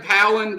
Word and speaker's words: Howland: Jacob Howland, did I pronounce that correct?